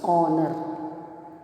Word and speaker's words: honor: In your English subject, when we write honor, H, but we not pronounce H. It's a honor.